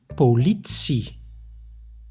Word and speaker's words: politie: There is one exception, sometimes, not always though, when the T is followed by an I, it is pronounced as ts, like in politie.